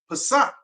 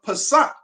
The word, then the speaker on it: Pesach: The word comes from the original Hebrew, which is pronounced Pesach, or Pesach.